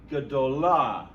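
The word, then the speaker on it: גדולה: Gadol becomes gadolah. Gadolah. See how that comments is reduced to Shavah.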